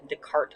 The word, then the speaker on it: Descartes: guy named renee descartes descartes i believe is the proper pronunciation occasionally you will see